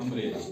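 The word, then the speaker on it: umbrella: double L ए अंब्रेला ये देखो एम बी यहां आता है सेंटर में आता है ना वर्ड के मिडल में इसलिए हमने इन दोनों लेटर्स को प्रोनाउंस करना है इनकी दोनों की आवाज निकालनी है ठीक है जैसे नवंबर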